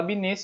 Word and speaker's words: Binet: Se fala Binet, se escreve Binet.